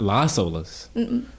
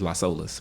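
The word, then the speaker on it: Las Olas: last we're gonna go to olas tonight not la solos if you african-american in florida is los olas but i feel like i've only heard they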